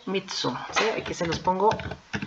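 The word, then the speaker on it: 三つ: Para 3, mitsu, que es con doble consonante, mitsu.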